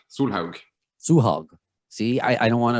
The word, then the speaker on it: Solhaug: But to pronounce it, yeah, Solhaug. Solhaug.